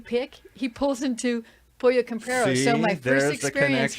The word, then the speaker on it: Pollo Campero: It's Campero.